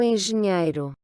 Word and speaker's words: engenheiro: si vous êtes ingénieur, donc si vous êtes un homme, vous direz, Sou engenheiro. donc rappelez-vous, hein, NH se prononce NIE.